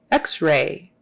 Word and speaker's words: x-ray: just barely there rey x-ray x-ray and the accent is on the x x-ray have you had